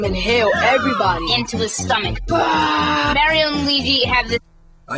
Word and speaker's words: Mario: what 20 some years it's been pronounced Mario with a a short a it's always been a short a yet El kids to say Mario it's ridiculous Amazing Adventure